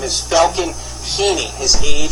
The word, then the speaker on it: Heene: His name is Falcon Heaney. His age, 6 years old. The last name is spelled Heene. The father is Richard Heaney, same spelling on the last name.